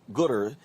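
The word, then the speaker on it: Goodr: founder and ceo of gooder is it is it gooder g-o-o-d-r is that what's house pronounced right okay so you decided so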